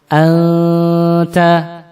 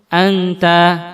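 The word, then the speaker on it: أنت: Kita membaca anta. Itu kan nun mati ketemu dengan ta, ikhfa. Anta. Tapi kita bacanya langsung anta.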